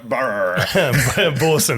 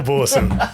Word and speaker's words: Boersen: a homeowner how how do you say your last name I always just go borson borson yeah it's pretty close yeah borson welcome